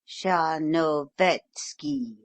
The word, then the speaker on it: Tcharnovetski: It is oddly spelled, but it is pronounced a little broader than you give it, quite as though it were written Tcharnovetski, in fact, with the accent on the third syllable.